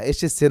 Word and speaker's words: এসেছে: এখানে মোহাম্মদ হা মোটাহা না এটা মোহাম্মদ ও ফাতিহা নতুন মাদ্রাসায় এসেছে দেখবেন অনেকে সে বলে এসেছে না এসেছে না এসেছে ছটা সুন্দর করে উচ্চারণ করবেন